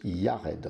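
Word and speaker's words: יֶרֶד: de cette généalogie et jared qui se prononce yared en hébreu référence 30 33 82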